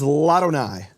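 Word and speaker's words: לאדני: La Adonai becomes Ladonai. And what happens is the vowel drops from the aleph, and the aleph is silent.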